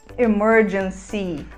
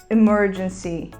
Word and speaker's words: emergency: a palavra emergência e a gente fala emergency nós terminamos a palavra com um I bem aberto emergency emergency e uma aplicação